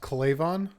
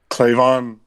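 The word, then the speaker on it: K'Lavon: I think it's pronounced Clavon. Clavon.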